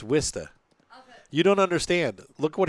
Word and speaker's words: Worcester: It's Wista. It's Wista. You don't understand. Look what he wrote, and it's pronounced Worcester.